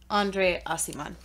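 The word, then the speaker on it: André Aciman: back to you guys this is how you pronounce his name asimon Andre asimon the audiobook told me I'm on page 122.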